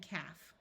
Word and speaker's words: calf: and two more common words are half and calf if you found this video useful please share